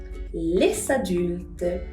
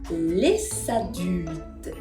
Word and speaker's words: les adultes: adulte comienza con vocal, los vamos a unir haciendo que ahora sí pueda sonar esa S.